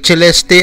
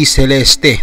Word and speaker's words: Celeste: Incidentally, Celeste at hindi Celeste tulad ng tawag ng singer-actress na si Celeste Legazpi ang wastong pagbigkas sa pangalan ni Celeste.